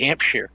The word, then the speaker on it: Hampshire: There's no I. You don't pronounce the I. When there's an am, it's generally a like Birmingham, not Birmingham.